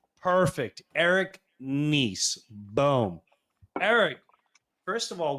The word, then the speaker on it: Nies: It's niece, like your niece and your nephew. Perfect. Eric Nice.